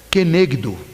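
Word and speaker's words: כנגדו: A primeira, a pronúncia em hebraico seria Izer, e a segunda é Kenegdo.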